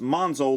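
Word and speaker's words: Monxo: with an X here typically speaking the X makes a z sound so I'm still thinking that's pronounced monzo like the original Headmaster was but again because of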